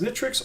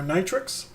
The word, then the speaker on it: Nitrux: version 1.0 point three notch efforts pronounced nitrix or nitrix it isn't a bunch